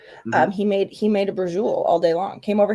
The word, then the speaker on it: braciole: But yeah, he made you ever heard of braciole? I have. Okay, so it looks like brocchioli, right? Yeah. That's how it's spelled. Mm-hmm. He made a braciole all day long.